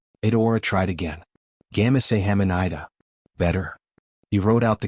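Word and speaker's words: 감사합니다: "No, the emphasis is on the second syllable." "Gamase hamanida." Adaora tried again. "Gamase hamanida."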